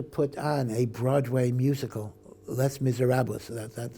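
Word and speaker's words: Les Misérables: they wanted to put on a Broadway musical Les Miserables that's how you pronounce it and they wanted women to sing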